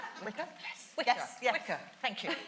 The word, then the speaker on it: Wicca: It rhymes with sticker. Wicca?